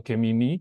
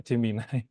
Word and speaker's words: Gemini: ChatGPT kayak biasanya, lalu ada Gemini atau Gemini bahasa Indonesianya. Tapi kalau orang luar biasanya pakai Gemini cara bacanya.